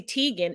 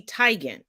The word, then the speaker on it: Teigen: it's not it's Denzel just like it's not Chrissy Teigen it's Chrissy Teigen foreign legendary it wasn't